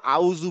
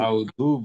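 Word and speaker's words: أعوذ: Second সমস্যা হচ্ছে আমি উচ্চারণে অনেক দূর চলে গেছে, এখনো আউজু বিল্লাহ বলতেছে, কিন্তু আমি 100 বার মনে হয় বলছি যে আউজু না আউজু। আউযু এখন বিল্লাহ।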